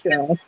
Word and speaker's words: Sheryl: I want to make sure the pronunciation of the name is correct. It is Sheryl, right? Yeah, well, I'm a Bostonian, so I'm a little hard on the R, but yeah, it's Cheryl.